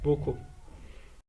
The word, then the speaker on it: beaucoup: Les mots qui contiennent la lettre C, elle se prononce K, sont connus, beaucoup.